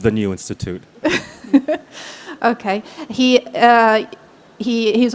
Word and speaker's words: The New Institute: the appointed director of the hat newt institute is to the right way to say it just the new institute okay he uh he